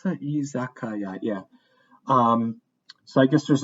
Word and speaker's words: Izakaya: Did I pronounce that? Izakaya, yeah.